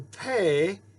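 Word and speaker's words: פ: Notice that pay, it can be without the dot. The pay is P as in pastor. P, p, p. But the softer pay is PH as in phone or alphabet.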